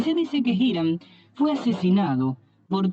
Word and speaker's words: Hiram: Y este le envía un sacerdote y arquitecto llamado Hiram, con H, no como las normas Hiram, sino Hiram o Hiram, como lo pronunciaban ellos.